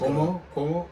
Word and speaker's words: Cuomo: I think Kumo said it. Leave your chin straps at home. That boy on a run, man. Yeah, I think he's Cuomo.